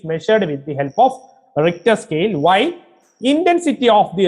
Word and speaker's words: Richter: Richter scale, th is silent. Richter scale, you are already familiar with the Richter scale related to earthquakes.